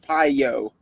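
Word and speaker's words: paio: if you take it back another route is piyo p-a-i-o pronounced pyo means to strike or sting wow that's interesting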